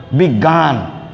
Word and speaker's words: বিজ্ঞান: খেয়াল করো ভালো করে, যেমন দেখো বিজ্ঞান, এই বিজ্ঞান এর মধ্যে আছে কিন্তু বর্গীয় জ যোগীয়, কিন্তু উচ্চারণ হয় কি গ হর্ষন্ত যোগ গা, বিজ্ঞা বিজ্ঞান।